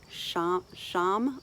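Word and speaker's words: ṣam: that last time, but this time it's Sham, where the tongue is kind of behind the ridge, and that's probably for a whole other video, but it's spelled S with a dot underneath it, A-M, and that's for nerve tissues. So Sham, like Krishna, so kind of tucking the tongue under, so that is a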